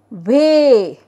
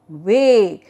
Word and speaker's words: weigh: i g h so e i is pronounced as a then a s e